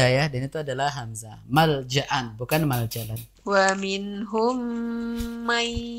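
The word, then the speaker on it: ملجأ: Ibu Sri perhatikan ya di lafadz malja'an. Tadi ibu bacanya dengan maljalan ya. Harusnya itu hamzah ibu ya. Law yajiduna malja'an, bukan maljalan.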